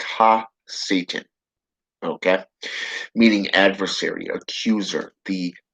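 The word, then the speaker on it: הַשָּׂטָן: el shaitan in hebrew his his name is pronounced ha satan okay meaning adversary accuser the adversary complex to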